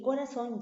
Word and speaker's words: corazón: Y es una palabra aguda porque tiene la mayor fuerza de voz en la última sílaba, ¿cierto?